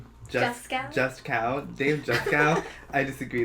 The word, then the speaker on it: Juskow: Just cow.